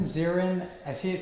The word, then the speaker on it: Zirin: dave dave is it zirin zirin i see it says somebody's face yeah it's siren like a fire siren although i never get